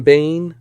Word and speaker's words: Bain: rabbit written by sam bain rhymes with kane and starring drew barrymore